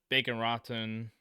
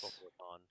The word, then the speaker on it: Boca Raton: Okay, but then Allen, Las Vegas, Allen, Bacon Raton or Boca Raton, Dallas. Boca Raton. Thank you.